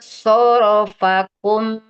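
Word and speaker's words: صَرَفَكُمْ: Huruf suatnya lebih tebal kan? Oh iya. Summa surfakum anhum surfakum. Jadi so dengan So, ro-nya sama-sama tebal ya. tsumma sarafakum anhum gitu.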